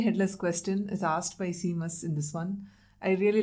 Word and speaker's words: Seamus: It's not like Neville, where you know how to pronounce his name because it comes up a lot. It's Seamus. Yeah. For this episode, let's try to say Seamus. Seamus.